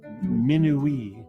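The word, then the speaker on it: minuit: time for animals minwee in french midnight gets an extra syllable in this west african pronunciation minui samuzay midnight amuses itself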